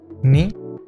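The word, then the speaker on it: ν: Esto nos cambia las pronunciaciones de estas letras que pasan a ser Mi, Ni, Y y Taf.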